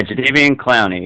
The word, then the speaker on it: Jadeveon Clowney: I've heard it pronounced 100 different ways, but Jadeveon Clowney, is that right on or close? Yeah, Jadeveon Clowney, yeah.